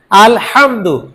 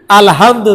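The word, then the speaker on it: الحمد: আলহামদু, এই হাটা যদি গোল হা দিয়ে পড়ি আলহামদু, তখন অর্থ কি হবে?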